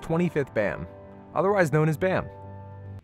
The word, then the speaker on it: Bam: bam otherwise known as bam i know it's properly pronounced bomb but i'm just going to say bam because that's how i've read it for like six years okay i'm sorry bam